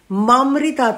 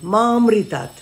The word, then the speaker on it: মামৃতাত: মৃত্যুর মুক্ষী মামৃতাত মামৃতাত মামৃ নয় মামৃতাত এই হচ্ছে উচ্চারণ এবার ঘটনা হচ্ছে মন্ত্রগুলো